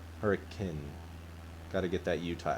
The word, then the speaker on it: Hurricane: pronounce it is hurricane spelt exactly like hurricane but you can tell if you're out of state because it is people say i'm gonna go to i'm gonna go through hurricane to go to zion's